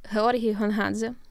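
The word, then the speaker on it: Георгій Гонгадзе: I don't want to mispronounce his name. His name is Hrori Hunghadze.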